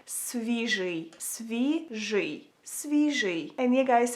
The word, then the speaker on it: свіжий: So if you wanna say fresh in Ukrainian, you would say it like свіжий, свіжий.